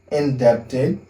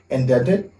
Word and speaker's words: indebted: you, c'est I am indebted to you. Sometimes they just, okay, B is silent sometimes. You can hear people say indebted, but you can say indebted. That's the same thing, okay?